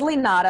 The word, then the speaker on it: Linara: started auditioning yet so my name is Lee nada and as you see it's spelled kind of funny li na RA it's Brazilian you roll the R I often have to